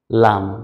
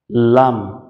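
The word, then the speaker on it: لام: দাঁতের মারির সাথে লাগিয়ে লাম দেখুন শুনতে কঠিন মনে হলেও কিন্তু এটা সহজ জিহ্বার আগার কিনারা উপরের দাঁতের মারের সাথে লাগিয়ে লাম লাম লাম মানে আমাদের জিহ্বার আগার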